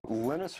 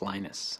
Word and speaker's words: Linus: speak Finnish it's lenus when I speak English it's lonus and I really don't care how people pronounce my name but Linux is always